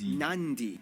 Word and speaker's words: Nadi: makes the th sound, D makes the nd sound, B makes the mb sound. Both Q and G make the ng sound. Therefore, the town of Nadi is actually pronounced Nandi.